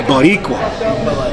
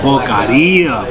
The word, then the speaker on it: Boqueria: The biqua I did say it wrong the first time. My wife was like, "You said it wrong the first time you ordered it." It's bogaria bacon cheese.